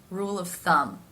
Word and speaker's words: rule of thumb: rule rule of here it is the schwa sound rule of thumb that sound happens very quickly rule of thumb as